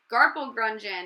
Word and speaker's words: garplegrungen: Garpel grungeon. It rhymes with dungeon, said Dr.